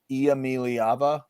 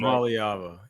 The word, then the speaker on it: Iamaleava: coming, and that's Nico Iamaleava. It's 6 sounds. Iamaleava. Right? Iamaleava.